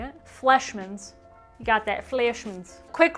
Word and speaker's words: Fleischmann's: Here it is, Fleischmann's. Is that how you say it? Fleischmann's.